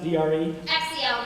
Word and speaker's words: Drexel: Spelled the same way it sounds, D-R-E? X-E-L, right, Drexel. Perfect.